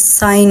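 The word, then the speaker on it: sign: जैसे हमारे पास साइन है और साइन में हमारे पास जी जो है वो साइलेंट है।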